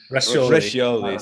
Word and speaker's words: Roscioli: I was like, oh yeah, it's Italian. Roscioli. Roscioli, see?